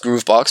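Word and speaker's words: Gruvbox: This uh one here, Groov Box. I know it's pronounced Groove Box, but I always call it Grou box.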